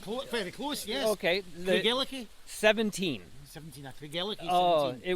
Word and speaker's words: Craigellachie: I call it Craigellachie. Not close, very close. Yes. Okay. Craigellachie.